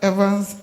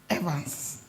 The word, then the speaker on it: Evans: Dr Evans agre dark he taught us how to pronounce the name Evans we were saying Evans Evans and then he said no it's evance so now I can also say evance refs of fear reps